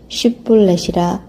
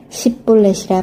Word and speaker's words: 쉿볼렛: 그가 만일 아니라 하면 그에게 이르기를 쉿볼렛이라 발음하라 하여 에브라임 사람이 그렇게 바로 말하지 못하고 십볼렛이라 발음하면 길르앗 사람이 곧 그를 잡아서 요단강 나루턱에서 죽였더라.